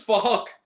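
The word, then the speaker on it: Phuc: This is fuck. It's spelled with a PH, but it sounds like fuck.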